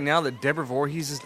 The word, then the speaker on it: Voorhees: yeah her name actually it's a Dutch name Voorhees that's crazy and she's actually said part of why she loves the movie series so much as people know how to pronounce Voorhees because because of Jason right here